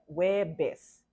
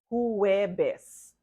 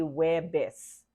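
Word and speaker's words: Huwebes: which is each you you only pronounce the second syllable so it seems it sounds like that so web base is pronounced sounds like webis you do not see who wear best okay Filipinos say we're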